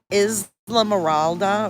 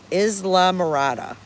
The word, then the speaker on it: Isla Morada: little quaint key called Isla Morada. Island Morada. Yeah, we just want to chill. No, it's not warm. It's 15 This is 59°. I'm You're saying it right, but it is Isla Isley? Isla?